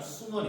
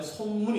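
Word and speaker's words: 孫文: 여기서 이제 가장 대표적인 유학생이 그 유명한 순원이 됩니다. 순원. 이 순원은 중국식 발음이고 우리나라식 그 발음을 하면 손문이 됩니다.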